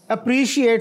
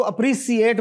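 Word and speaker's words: appreciate: ए अना लेट और अगला जो है अप्रिशिएट सही बोला उन्होंने और उसमें कुछ लोग हमारे जो है ना सही बोलने के जोम में इसको अप्रिशिएट बोल देते हैं which is not correct native speaker जो है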